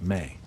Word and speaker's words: me: They operated the world through something called ME, pronounced may.